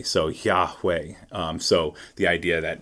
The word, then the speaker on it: Yahweh: sound of breathing so the breathe in sounds like yah and then the exhale sounds like way so yah way um so the idea